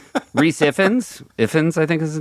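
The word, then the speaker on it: Ifans: Ifins I think is his name, right?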